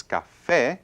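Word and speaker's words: café: natural accent so it's the actual stress is on the last syllable so it's Cafe Cafe so it does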